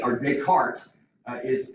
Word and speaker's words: Descartes: that came up with a little Rule and descarte or Descartes uh is how you kind of pronounce it and so the cartoon rule is